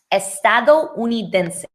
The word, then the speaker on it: estadounidense: How do I pronounce this, that word, the American? It is pronounced estadounidense.